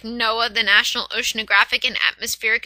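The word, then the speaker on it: NOAA: that takes place before a an organization like Noah the national oceanographic and Atmospheric Association and before you think it's spelled Noah it's no OAA National oceanographic and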